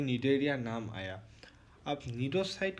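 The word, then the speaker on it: Cnidaria: ये है नीडेरिया। सी इसमें साइलेंट है तो नीडेरिया है इनका नाम है।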